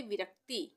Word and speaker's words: विरक्ति: अतिरिक्त उसी तरह से विरक्ति विरक्ति विरक्ति में भी क का उच्चारण आधा हो रहा है और त पूरा बन रहा है विरक्ति विस्तृत विस्तृत